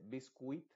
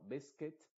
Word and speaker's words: biscuit: olvídate de la u ves acá no se dice biscuit sino beset Y esa es la